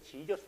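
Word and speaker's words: Jesus: 이해해 주세요 아이로 시작해요 17세기 판과 수학자가 어 발음을 하면서 아이가 j 로 바꾸면서 지저스 로 바꿔 버리는 거죠 원래는 이 했었어요 거의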